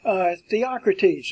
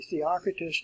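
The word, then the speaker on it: Theocritus: If we start up at the top here, Theocrates is the way it's pronounced. It looks like it would be Theocratus.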